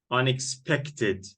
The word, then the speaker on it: unexpected: a schwa amazing yep unexpected stress is here unexpected unexpected here look and four